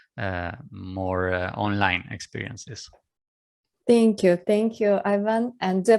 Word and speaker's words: Ivan: Thank you, Ivan. And do I pronounce the name correctly?